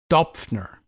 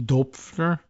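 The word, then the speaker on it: Döpfner: Matthias Dopfner is my best guess at the pronunciation. Dopfner. Perhaps a little weirdness on the O with the umlaut.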